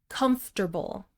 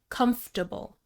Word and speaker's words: comfortable: Comfortable. Comforter-ble. Three syllables. In American English, we usually insert an er sound in the second syllable, comforter-ble, but sometimes this is just a schwa vowel, comfortable, especially in British English.